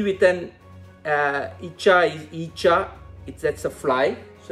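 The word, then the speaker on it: ഈച്ച: So the word we are going to learn with E is EECHA. EECHA is nothing but a fly. You know, the house fly and mosquito and all these are flies. So E with an EECHA is EECHA.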